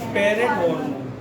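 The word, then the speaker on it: parathormone: पैराथायराइड gland secrete a हार्मोन called इसको कैसे बोलेंगे, प्रोनाउंस करेंगे, पैरेट हार्मोन। पैरेट वो वाला पैरेट नहीं, तोता नहीं, PARAT हार्मोन।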